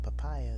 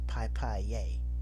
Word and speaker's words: papaya: Instead of saying papaya, they say pip pier, which is ridiculous, right?